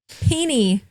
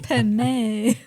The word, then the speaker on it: penne: I want to go to the pasta aisle with you now and be like, rigatoni, pini. Oh no. Penne. It's pen.